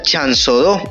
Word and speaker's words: Chanzodó: Su nombre viene de un vocablo indígena que se pronuncia chanzodó.